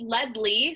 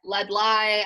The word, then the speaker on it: Ledlie: Yeah, it's Ledley, so it's basically like lead of a pencil and then like Lee, but it's spelt Ledlie. But I get Ledlie, I get Leslie, I've only had one